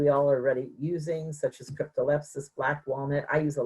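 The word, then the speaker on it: Cryptolepis: your slides, cryptol, I'm sorry if I can't pronounce it right. Cryptolepsis.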